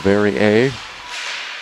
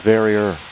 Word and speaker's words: Verrier: Shea Verrier, or Verrier, depending on if you hail from the eastern part of Canada, at least, on the Quebec side. But I think Shea said go with Verrier.